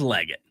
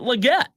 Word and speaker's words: Legette: was also told that a family member from Xavier's immediate family said it is legot and that the whole time we've been pronouncing at Legette so great question Robert